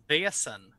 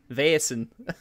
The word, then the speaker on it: Vaesen: I mean, look at Simon whenever we mispronounce it. If you want to go into it, it's Vaesen. Vaesen.